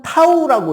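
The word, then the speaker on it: τ: 자, 원래 이거는 타우라고 읽는 거예요.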